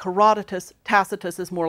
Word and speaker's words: Tacitus: want to consider is Publius Cornelius tacitus takitus in Latin tacitus as he's pronounced in English now unlike Livy tacitus is what's often called